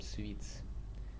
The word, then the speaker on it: suites: Uh now I will need to to uh relearn uh and rewire my brain to call them sweets.